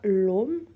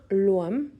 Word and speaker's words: Ogham: Alors je le prononce à la française ici. Il y a 2 prononciations possibles. Donc il va y avoir soit l'Om, donc ça va être vraiment plutôt la prononciation en anglais archaïque, en irlandais archaïque, pardon, ou bien Loam, qui va être plutôt la prononciation en irlandais moderne.